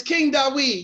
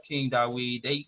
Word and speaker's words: King Dawid: Well, it's King Dawid, yeah. It's pronounced King Dawid.